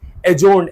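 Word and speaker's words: adjourn: the meeting was एजोरन ये एड जर्नी डी is silent एजोन एजोन mean मुल्तवी करना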